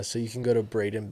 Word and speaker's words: Braiden: social media yeah so you can go to Braden it's spelled b-r-a-i-d-e-n and then b-e-l-n-a-p you can